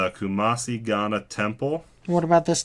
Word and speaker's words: Kumasi: If I pronounce it wrong, he will probably kill me. But it's Kumasi Ghana Temple.